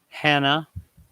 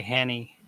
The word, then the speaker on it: Hannah: Hannah. In my mind, I always say Hanny, even though I know that's not right.